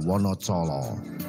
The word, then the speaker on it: Wonocolo: Dulunya Wonocolo mempunyai ejaan Wonodijolo, dibaca Wonocolo, di mana Wono yang berarti alas atau hutan, Colo berarti obor atau penerang.